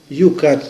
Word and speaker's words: Youcat: lo estoy sacando del libro Yucat, que es una síntesis del Catecismo de la Iglesia Católica, se escribe Youcat, que se hizo a